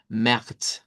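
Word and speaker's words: März: lleva una a un lout que la vamos a pronunciar como e y la eribular más la z que suena como el africado ts. Entonces vamos a decir ma ese sería el mes de marzo.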